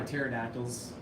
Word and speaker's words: pterodactyls: You guys know why pterodactyls, you can't hear him go to the bathroom because the P is silent.